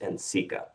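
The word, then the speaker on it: NCECA: Not only did I learn what Nikka was through them, but I also learned that it was actually pronounced in Sika, uh, which is the National Council on Educations for the Ceramic Arts.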